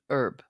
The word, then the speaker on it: herb: AMG was alluding to if it's a name apparently you pronounce the h as if it's not a name you know it's herb thank you I think